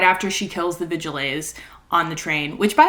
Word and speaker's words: Vigilés: It's like right after she kills the Vigilés on the train, which, by the way, I just learned that's how you pronounce those. I thought it was just Vigils. It's Vigilés, the more you know.